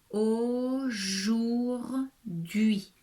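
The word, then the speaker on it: aujourd'hui: que igor troisième prénom aujour d'hui voilà un mot avec trois syllabes au jour d'hui attention ici le h est muet printemps jouets y alors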